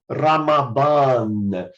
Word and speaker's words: Ramadan: Mas se você quer praticar a pronúncia perfeita, diga aí Ramadan.